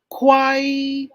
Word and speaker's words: 快: 我的生生生日快 letter K, dapat may hangin. 快 Fourth intonation.